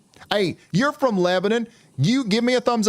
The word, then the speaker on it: Lebanon: Also, Lebanon, you guys are going to get in on some pretty significant weather too.